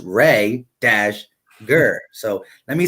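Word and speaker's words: Reagor: didn't say Jalen Rhaegar let me say Rhaegar because I always say Rieger and and a couple people in my last video was like it's pronounced ray - gur so let me say Rhaegar instead of Rieger because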